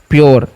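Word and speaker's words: pure: तो इसको पूरे पढ़ेंगे नहीं, पी का जो उच्चारण है ना हम क्या करेंगे, आधा कर देंगे। यू आर ई जब भी रहेगा तो उसको क्या करना है, योर करना है, योर। तो हो गया प्योर, क्या हो गया, प्योर।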